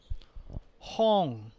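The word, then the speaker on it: ห้อง: The tone mark column gives you the following sound. Hong, hong.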